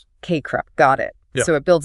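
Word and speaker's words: CACREP: And this competence in selecting appropriate tech aligns with broader standards too like the KRAP pronounced KREP 2024 standards for counselor education programs. KREP.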